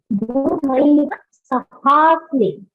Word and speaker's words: गुरुनैव सहास्मि: Jyoti ji, your pronunciation has to be Gurunaiva Sahasmi. So if you look at her, after her there is a line there. So there's an akara. It is ha.